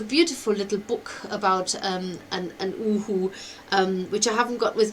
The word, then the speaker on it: Uhu: the owl is that in German, an eagle owl is called Uhu, and it's spelled U-H-U, and it's called Uhu because that's the sound they make. They go Uhu, Uhu.